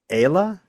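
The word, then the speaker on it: Aila: I believe the pronunciation of her name is Ayla. A-I-L-A. Ayla.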